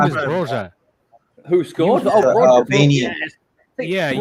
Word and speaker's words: Broja: His name is Broja.